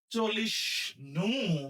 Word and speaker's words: চলিষ্ণু: আর এখানে যে যুক্ত বর্ণ আছে ভাঙলে আমরা পাবো পেট কাটা মূর্ধন্য ষ ন, চল্লিশ নু, তাহলে উচ্চারণ হবে কি চল্লিশ নু, চল্লিশ নু।